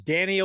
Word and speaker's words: Dan-e-o: So it's Danny-O without the dashes.